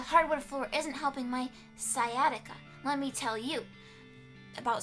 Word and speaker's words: sciatica: Google tell me how to say the word pronunciation sciatica sciatica yeah that word the hardwood floor isn't helping my sciatica let me tell you about sciatica because I